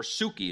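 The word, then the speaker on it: ψυχή: is to be dead to my psyche or Suki is the actual Greek pronunciation it's the word life in Matthew 16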